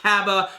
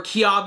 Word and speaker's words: Cabba: know that he's pronounce cab because they say that in the preview for The Next Episode it's not cabba or kiab maybe it is kiab but I'm going to say cab I want to see